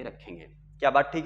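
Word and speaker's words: ρ: Resistivity है यानी रो, इसको पढ़ते क्या है बेटे, इसको देखो, इसको पढ़ते हम लोग आर एच ओ, ऐसे रो, हाँ एकदम साइलेंट में रखना रो.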